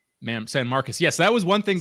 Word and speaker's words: San Marcos: It looks like it's pronounced San Marcos but it's pronounced San Marcus. Ma'am San Marcus.